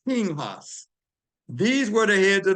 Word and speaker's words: Pinchas: Well, it's, in English, it's pronounced Pinchas, but in Hebrew, it's Pinhas.